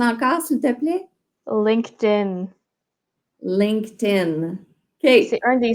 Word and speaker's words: LinkedIn: Ouais, j'entends LinkedIn parce que les Québécois, on prononce souvent le ED comme il est écrit. Fait que LinkedIn, malheureusement, c'est ça. Il faut comprendre qu'en anglais, il y a 3 façons de prononcer les ED et ce n'est pas ED. C'est vraiment TD ou ID.